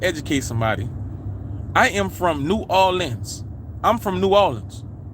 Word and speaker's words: New Orleans: somebody i am from new orleans i'm from new orleans right now if you're not from new orleans you're going to say it's new arlene's right in different places in